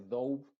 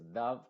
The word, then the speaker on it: dove: Hay excepciones, por ejemplo, la palabra love no se dice love, esto no se dice dove, sino que se dice dove, que es una paloma.